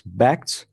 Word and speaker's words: Bakkt: interesting project and that's PACs that was recently announced and first to say that it's pronounced it's Beck's which is a word play on backed as in asset backed securities they call it a